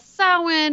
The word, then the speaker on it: Samhain: the Celtics that's what the Celtics called it Samhain basically we discussed the history of Halloween from its traditions with the ancient Celts starting with soin and how it has been redefined through the